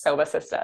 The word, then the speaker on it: Sobah Sistahs: Sistas community and I love the way that's pronounced soba sister is it's awesome and you said it perfectly